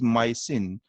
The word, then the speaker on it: mycin: Streptomyces species से derived होती है जिसकी स्पेलिंग के अंदर जो सुफिक्स आएगा that is MYCIN, इट इज माइसिन।